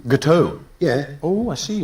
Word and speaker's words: gâteau: think you'll find it's gâteau. Gâteau? Yeah. Oh, I see, right. Yeah, the X is silent.